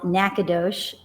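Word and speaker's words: Nacogdoches: song called I'm gonna do a tune called NACA Doge it's not spelled that way it's spelled nacho cheese but uh I was gonna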